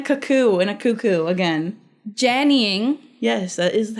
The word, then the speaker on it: Jannying: Okay, well it is Jannying, and we're not doing a cuckoo and a cuckoo again. Jannying.